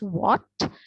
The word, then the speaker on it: what: We know that we read this as what, but it has an H, but we do not specifically pronounce that H.